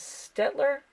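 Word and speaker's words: Staedtler: This one is Stettler, I think is how you say it.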